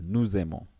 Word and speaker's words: nous aimons: Now here, so when you're reading this together, you'll tend to pronounce the S and the A, and that gives you sound z, z. So it becomes nous aimons.